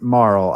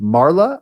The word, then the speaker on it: Marle: I also pronounce it Marl. I've heard it pronounced Marla. I've heard it pronounced Marley. And they're wrong. They are wrong. Marl makes the most sense. Well, apparently her name in Japanese is Maru.